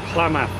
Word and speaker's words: Klamath: Oh my god, how are you pronouncing that? Klamath.